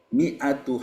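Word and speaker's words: مِائَة: Ada beberapa mi'atu habbah, harokatnya kasroh, di depannya ada alif. Tapi tidak boleh dibaca mi'atu habbah.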